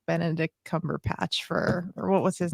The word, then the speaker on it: Benedict Cumberbatch: Yeah, Benedict Cumberbatch. Did I say his name right? Yeah, Benedict Cumberbatch.